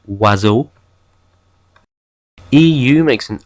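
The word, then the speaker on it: oiseau: sound like in sha I makes a wa sound like in wazo EU makes an u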